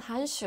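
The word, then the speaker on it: 函数: 펑션, 한슈.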